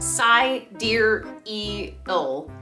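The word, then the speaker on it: Sideræl: her name is exa dark sidereal yes that's pronounced psy dear e ill according to an interview with grimes and vanity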